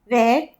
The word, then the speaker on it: vert: Where T is silent, if we add E, it becomes vert in feminine.